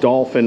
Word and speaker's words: Dauphin: is is the dolphin but it is pronounced dolphin because on the way